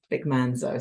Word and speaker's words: Manzo: Vic Manzo. So I was about to add another syllable in there.